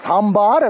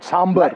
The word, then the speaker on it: sambar: I keep correcting people it's sambar and not sambar like a good